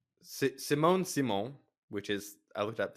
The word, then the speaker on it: Simone Simon: I'm not really sure how it's a sequel because it's like Simone Simon, which is, I looked up the correct pronunciation of her name, is also in it,